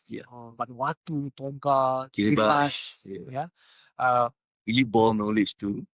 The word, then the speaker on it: Kiribati: Vanuatu, Tonga, Kiribati. Yeah. Really ball knowledge to pronounce it correctly. Kiribati, yeah.